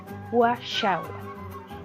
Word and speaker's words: washawal: Así, por ejemplo, vuelvo al ejemplo anterior, washawal, la acentuación la tendríamos en sha, washawal.